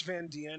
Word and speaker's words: Van Dien: you know who grace van diene is no it might even just be grace van dien but it's spelled d-i-e-n but um she's the